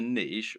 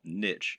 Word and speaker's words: niche: The reason we call it a niche, or niche as some people pronounce it, when talking about an online business, is that a niche is a particular category.